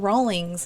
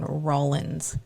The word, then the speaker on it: Rawlins: she said something about oh we're in Rawlings and he's looked at her and he's like no you're in Rollins Wyoming there's no G I just don't pronounce